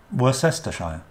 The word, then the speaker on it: Worcestershire: the word up on the screen for you were sester shy and it's not worse that's the Shire is